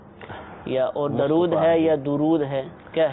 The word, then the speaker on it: درود: اسی طرح عام طور پہ جو تلفظ ہے وہ درود پڑھا جاتا ہے، درود نہیں پڑھا جاتا کہ تم پر درود و سلام. تو دال کے اوپر پیش، یہ عام طور پر